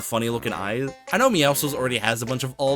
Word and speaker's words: Meowscles: His name is Meowscles, a pun on the word muscles and meow, you get it. However, there's apparently people that call this guy Meowsicles.